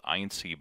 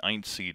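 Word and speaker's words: EINSY: But the electronics assembly is really just the so-called INC board, which is an integrated power controller that controls the power to the hot end and the heat bed.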